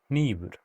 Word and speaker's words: Hnífur: For example, a voiced velar fricative 'Laga,' a voiceless bilabial nasal 'Lampi,' a voiceless alveolar nasal 'Hnífur.' As a side note, 'hn' might be pronounced /kn/ in casual speech.